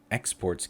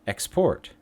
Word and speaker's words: export: Most two-syllable verbs place the stress on the second syllable, on the rear end, on the back end. And even though you'll notice that the verb present and export, present, present, present, present, export, export, export, export.